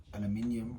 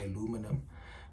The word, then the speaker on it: aluminium: measuring she was doing some aluminium or as the Americans say aluminum but um putting these